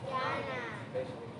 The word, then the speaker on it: yana: Yana.